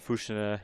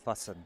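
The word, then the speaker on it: Füssen: Oh, and Fusha, Germany. The most beautiful place to curl. No, that's fussen.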